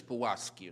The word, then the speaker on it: Pułaski: Mayor mentioned already Tadeusz Kościuszko, and great pronunciation, thank you so much, and Kazimierz Pułaski and Kazimierz Pułaski. Let me just come out with this real Polish pronunciation.